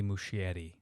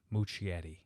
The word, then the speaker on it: Muschietti: couple photos and now director uh andy andy muschietti i think i pronounced that right i always butchered his name muchietti being an italian i should be able to